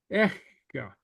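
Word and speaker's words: aice: The difference in the pronunciation between the two, eka and echa, is echa the at her, hers. You have a little breath in between. It's like this, echa.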